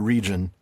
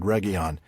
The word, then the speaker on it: Region: key of region yes it looks like the English word region it's not it's the Cinder in word regon um and that you